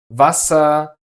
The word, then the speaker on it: Wasser: If it is at the end of a syllable, we actually pronounce it more like a dull uh. So, it is reden, hören, and brauchen, but Wasser, sehr, and Flur.